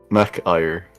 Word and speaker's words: McIre: Mac Ire. McIre? Yep. Just MacIre. Is it MacIre or Yep. McIre? Mac Ire. So, pronunciation. 2 syllables.